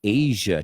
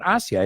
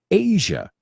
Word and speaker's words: Asia: on the South East Asia trip quick be careful there are a lot of people say I see aright it's not hacia its asia asia great southeast asia and